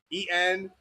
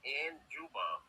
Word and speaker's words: Njigba: It's spelled the way they say it is EN, so like Njigba. And it's not ba, it's ba. So it's Njigba.